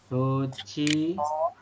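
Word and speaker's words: 좋지만: Jochiman. Kenapa jadi dibacanya Jochiman? Ini kan tulisannya adalah Johjiman ya. Karena hiat bertemu dengan jiat.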